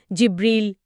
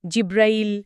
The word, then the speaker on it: জিব্রাইল: যেমন ধরুন জিব্রীল জিব্রাইল হ্যা জিব্রাইল এমনকি জিব্রীল।